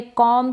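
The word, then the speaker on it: comb: यह है कॉम, क्या है कॉम, यहाँ पर ये जो बी है ये साइलेंट रहेगा, ठीक है। बी का कॉम, ब प्रोनाउंस नहीं करेंगे हम, ब नहीं बोलेंगे, बी इसमें साइलेंट रहता है।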